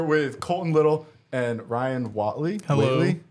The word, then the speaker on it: Whatley: we are here with Colton little and Ryan Watley how do you say your last name Watley Watley yes hell yeah boys uh I know